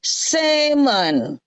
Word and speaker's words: salmon: tetap ditulis bacanya Sam kalau ditambah Mon di sini salmon itu justru l-nya enggak boleh dibaca yang ini yang didelete dikorupsi yang ini jadi bacanya semen Kalau yang di sini